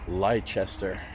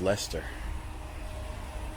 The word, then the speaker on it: Leicester: Cemetery in leester England looks like liester but pronounced Lester and this wford road